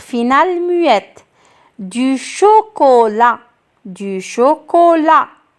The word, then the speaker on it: chocolat: muette du chocolat du chocolat la lettre finale muette ici c'est la lettre t qui ne se prononcent pas un retard un retard